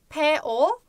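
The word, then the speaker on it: 폭포: tatlı bir kelime Çünkü Ses benzerliği var dikkat edin O OG p o k b o bu ve o gece popo popo popo popo popo neymiş Şelale popo şeklinde okunuyor diyoruz ve Aslında bu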